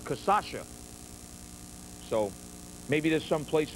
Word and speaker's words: cachaça: Some people pronounce this as cachaca. When I grew up, it's Brazilian rum made from the sugar cane there. Growing up, to me, it was called cachaça.